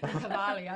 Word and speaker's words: Cavalia: It's Cavalia. It's such a romantic name. And then J'adore. It's also lovely, what do you have lovely named horses? Cavalia is 14.